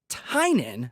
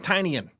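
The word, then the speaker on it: Tynion: everyone this is James tinan I 4th I'm sick of people saying tinan it's not tinan you just heard it it's tinan Let's Play It Again James tinan I fourth one of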